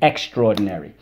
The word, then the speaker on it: extraordinary: extraordinary extraordinary okay so because we don't pronounce the a anymore as aa we're gonna